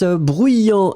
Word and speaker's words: bruyant: Masculine form will end with A-N-T, and then the feminine form A-N-T-E. D'accord, you will pronounce this t in the end for the feminine.